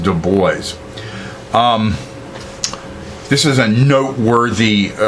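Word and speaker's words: Du Bois: and it's not pronounced Dubois um that would be kind of a French pronunciation uh it is pronounced de boys um this is a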